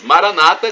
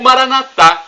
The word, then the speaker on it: Maranata: Maranata, como dizem nossos irmãos separados, os evangélicos ou protestantes, com a tônica na penúltima sílaba. Ou Maranatá, com a tônica na última sílaba, como dizemos nós católicos.